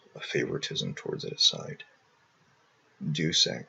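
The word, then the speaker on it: Deus Ex: favoritism towards it aside Dux or de X I guess is more correct Latin pronunciation is the best video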